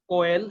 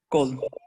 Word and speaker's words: coal: আর এটা হচ্ছে তুমি বলছো কোয়েল, এটা হচ্ছে কোল। কোল মানে হচ্ছে কয়লা, কোল, উচ্চারণটা কি? Coal.